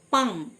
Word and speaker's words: palm: পাম, PALM, এল silent, পাম, মানে তালু।